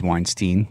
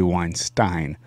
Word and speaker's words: Weinstein: the name of Brett Weinstein, and we have mispronounced his name over and over again as Weinstein, and it is actually Weinstein.